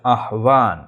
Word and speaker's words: আহ্বান: এর একটা সুন্দর সুন্দর নিয়ম আছে, সেটা হচ্ছে হর পরে যখন সংযুক্ত অন্তস্থ ব হয়, তখন এই হর উচ্চারণটা হয় না, এবং পরে বর উচ্চারণটা ভর মতো হয়, তাহলে এর শব্দের উচ্চারণ হচ্ছে আহ্বান, আহ্বান।